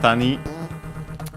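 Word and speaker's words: 谷: And yeah, it's accent on the last syllable.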